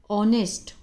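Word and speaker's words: honest: आगे एन लगा है एन ऑनेस्ट एच साइलेंट है ठीक है तो चलिए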